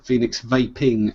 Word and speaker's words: Phoenix Vaping: Phoenix Vaping, not Vapors.